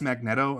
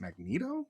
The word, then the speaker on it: Magneto: as Magneto until you heard it pronounced aloud as Magneto, or did you Was